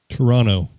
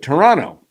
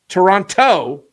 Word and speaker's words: Toronto: Toronto. Very, very good. Toronto. Not Toronto. Toronto. Toronto. Toronto. Toronto, like Geronimo. Geronimo. Toronto. Toronto. Toronto. Okay. We do not want to call them Toronto.